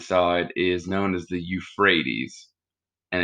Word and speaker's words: Euphrates: is known as the euphrates and it starts with e u just like in europe e u p h r a t e s so it's like you freights with a ph okay so you have